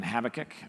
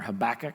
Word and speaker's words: Habakkuk: We are continuing this series on Habakkuk or Habakuk, either way you pronounce it, I won't be offended.